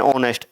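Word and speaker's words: honest: एन ऑनेस्ट, ऑनेस्ट में H silent होता ही है, तो वहाँ पे साउंड के अकॉर्डिंग आपका क्या हो जाएगा, एन हो जाएगा वहाँ पे, ठीक है।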